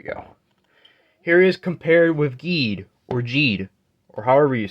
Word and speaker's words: Geed: I don't know because I swear in the show they pronounce it as geed but then I know with like the English dub they kind of say Jade so I don't know